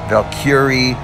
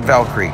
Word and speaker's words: Valkyrie: a Norris word, so if you go and check out pronunciations online, you'll find Valkyrie, Valkyrie, and even the odd Valkyrie. But most of the ways to pronounce it seem to be more the Valkyrie, Valkyrie.